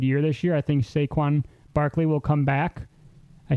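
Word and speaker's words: Saquon: a very good year this year I think saquan Barkley will come back I said it right did you hear that Shaquan saquan Barkley will come back and have a uh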